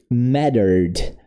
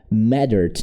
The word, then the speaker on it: mattered: The past of the verb matter is mattered. Mattered. Don't forget we don't pronounce this letter E. We go directly to the letter D. Mattered.